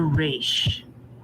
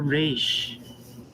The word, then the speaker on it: Resh: foreign to the race our letter for the day is the letter race it makes the r sound and it combines normally